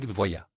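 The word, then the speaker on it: Voyah: Une histoire intéressante s'est produite avec une autre sous-marque de DF Voya. Dans notre pays, ce nom se prononce voya avec un accent sur le haut, mais les Chinois disent Fengu bien que sûr.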